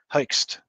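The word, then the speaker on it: Hoechst: There is a dye called Herxt. It's difficult to pronounce, but it's spelled H-O-E-C-H-S-T, Hoekst.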